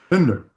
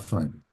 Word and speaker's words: Finder: And I forgot to ask, I pronounced that last name correctly, right? Bender, Yes. Okay. Bender, not fine.